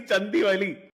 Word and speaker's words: Chandivali: It is actually Chandivali. How do Yeah, you, as a Malayali, not? How do you keep a straight face when you drive past Chandivali?